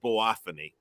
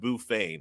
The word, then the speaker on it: Boophane: So this plant is called boophany. Rednecks or hillbillies call it bouphane because it's spelled Boophane. But the rest of us can call it boophany.